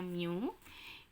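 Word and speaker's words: μ: itu ya jadi PX new yaitu bacanya Miu Oke pxq-188b katmini UK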